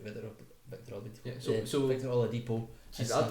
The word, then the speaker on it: Oladipo: Oladipo.